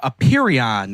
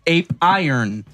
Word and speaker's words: Apeiron: have to go to Aperion. It's spelled as Ape Iron. No joke. Ape Iron.